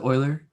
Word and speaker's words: Euler: mathematician what's the euler spoiler thank you zoey wow you even pronounced it right e-u-l-e-r euler not euler i guess he doesn't